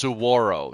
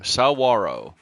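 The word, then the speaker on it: saguaro: Can't build a roof over sorro cactus. That's pronounced Sarro. Sawarro. Yeah, Sarro cacti for you and me.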